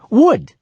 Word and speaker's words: would: Yes, I'm pronounced just like wood. You know, the stuff that comes from trees. Wood.